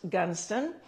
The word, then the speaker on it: Goodnestone: It's spelled Goodnestone, but pronounced Gunston, where we're going to